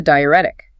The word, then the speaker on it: diuretic: And a patient with fluid overload needs a diuretic. Pronounced di u ret ic.